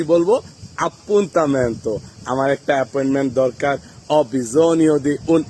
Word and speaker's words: Appuntamento: বিভিন্ন বাক্য তৈরি করব আর আজকের পরে কিন্তু আর ভুল উচ্চারণ পন্দামেন্ত বলব না এপয়েন্মেন্টকে বলব আপু তানন্ত ভালো লাগলে অবশ্যই ভিডিওটি